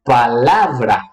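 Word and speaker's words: palabra: Então, aqui temos 3 sílabas. Uma sílaba é tônica, la, e temos 2 sílabas átonas, pa e bra. Quer dizer, sílaba átona, menor, a entonação mais baixa, sube em la, desce em bra.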